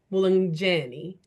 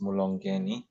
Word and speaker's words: Mulongi: Yes, Mulani. I butchered your name. Yeah, it's a Oshiama name from the north of Namibia. So, it's Mulongi.